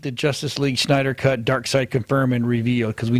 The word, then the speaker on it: Darkseid: Darkseid that's how it's spelled and pronounced.